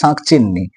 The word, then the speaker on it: শাঁকচুন্নি: অফ the kind called শাঁকচিন্নি, কেমন ধরনের ভূত, যাকে আমরা শাঁকচুন্নি বলতে পারি। এখানে শাঁকচিন্নি দেয়া আছে, কিন্তু আমরা এটা বাঙালি হিসাবে জানি যে আসল উচ্চারণটা কি, শাঁকচুন্নি।